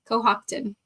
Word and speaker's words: Cohocton: So like Cohocton. So I think the emphasis is on the second syllable. Cohocton.